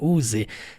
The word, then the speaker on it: use: Então, letra U vai pronunciar igual o you, o pronome, use.